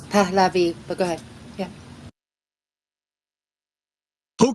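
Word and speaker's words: Pahlavi: up their admiration for the Palavi family, I think, is uh how that would be properly pronounced. And um it's it's rather cur curious. It's Palavi, but go ahead.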